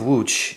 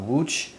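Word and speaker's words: Łódź: right uh wooch uh the city of wooch I think is pronounced uh in Polish I hope to God I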